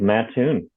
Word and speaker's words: Mattoon: It's Mattoon, right, Chad? Is that how you pronounce it? It's Mattoon.